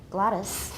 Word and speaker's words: glottis: the glottis during Gladys I don't say yes I use a schwa there Gladys Gladys during a given